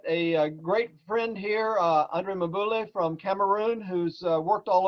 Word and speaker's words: Mboule: Yeah, my name is Andre Mboule. Mboule, Andre.